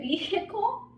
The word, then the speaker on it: vehicle: Next we have, is it vehicle? No, right? It's vehicle, because we are not, right? We are not pronouncing it.